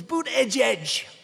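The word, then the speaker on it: Buttigieg: I think it was boot edge edge boot edge edge they said think of it as boot and then edge edge cuz nobody can pronounce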